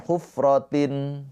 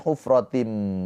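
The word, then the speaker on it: حُفْرَةٍ: Jangan hufratin tapi hufratim karena tanwinnya sudah dileburkan ke huruf mim.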